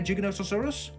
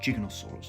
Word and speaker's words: Giganotosaurus: you going to wear Giganotosaurus I'm not also I've just realized been pronouncing it ganosa orus it's not it's gig gig gig gig gig Giganotosaurus Giganotosaurus number 10 now the most